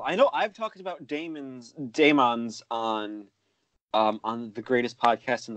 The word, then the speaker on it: Daemons: The Daemons, and yes, it is Daemons, not demons, not how else do people say it?